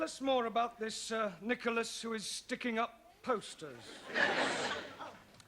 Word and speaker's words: Nicholas: upon a times there was a man called nickel ass it's not quite right no no once upon a time there was a woman called nickel ass it's pronounced Nicholas all right once on a times there was